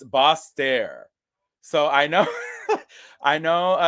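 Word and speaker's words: Basseterre: um I was uh trying to figure out the pronunciation and it's boss stare so I know I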